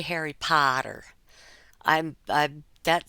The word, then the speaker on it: Potter: Boston would say because for me that's Harry Potter there's an r on the end it may be a quiet R but there is an R Potter Harry Potter he